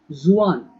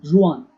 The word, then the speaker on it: Xuan: N is silent. Nguyen. Zuan. Xuan. Xuan. Zuan.